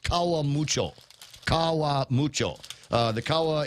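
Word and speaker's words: Karamucho: string potatoes and garlic chips that that's actually pronounced Kawa mucho Kawa mucho uh the Kawa is is spicy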